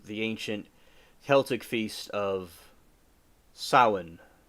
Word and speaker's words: Samhain: ancient Celtic feast of Samhain. I thought it was Samhain, but it's pronounced Samhain.